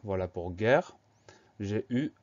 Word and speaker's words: guerre: Alors, première syllabe gay va s'écrire G-U pour avoir le son G. Et E accent grave pour avoir le son E, parce qu'on prononce guerre.